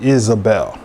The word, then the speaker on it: Izebel: say the spirit of isabel which can be spelt with an i or a y or y i uh in the strong they spell it with a i z e is a bell okay now so the